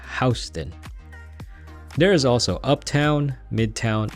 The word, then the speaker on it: Houston: I always thought it was pronounced Houston, but I guess here they pronounce it Houston.